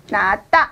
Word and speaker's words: 낫다: 이 말은, 자, 시옷 받침이 디귿에 영향을 미쳐서 이것은 낫다 이렇게 발음을 한다는 거죠.